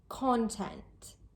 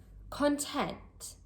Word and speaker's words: content: As a noun, we say content. Content. The stress is placed on the first part of the word, the first syllable. And as an adjective, content. Content. The word stress is placed on the second part of the word, on the second syllable.